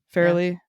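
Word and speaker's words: Farrelly: How's that how you pronounce her last name? Fairley.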